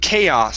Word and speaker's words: chaos: uh this word here instead of kiss it's chaos so you're going to hit that a k ah chaos chaos okay very nice